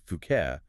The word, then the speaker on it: Phuket: It's so easy to imagine settling down, perhaps buying a nice place, maybe a villa overlooking the sea and say, Fuket.